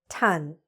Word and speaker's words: ton: This word, repeat after me: "ton". Okay? This is how we spell it; this is how we pronounce it.